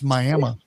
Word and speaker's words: Miami: We have a Miami, Oklahoma, but it's Myamah.